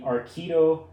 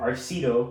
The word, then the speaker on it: Arcido: So this is, like I said, the Arcido or Arcido, which is what I used to call it until I actually heard the founders pronounce it, the Oxna, and it's meant to be a minimalist travel bag.